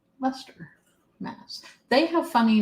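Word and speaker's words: Leicester: everybody bye and it's Lester that's how you pronounce the name of it looks like Li Chester but it's Lester Mass they have funny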